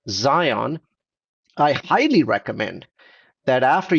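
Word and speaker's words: Zeihan: a really understands geopolitics his name is Peter Zion and Zion is spelled as z-e-i-h-a-n so that's Peter Zion I highly recommend that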